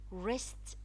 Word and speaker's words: wrist: Also in the word wrist, the W is followed by R, so the W is silent. We do not pronounce it, but we write it. Wrist, wrinkle, wrinkle.